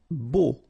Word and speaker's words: beau: Beau. Okay, so remember we've got this strange combination of vowels, E, A, U, so 3 vowels, but then phonetically it's only O.